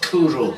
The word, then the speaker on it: cwrw: Kuru pronounced Kuru meaning beer in Welsh is an international award winner.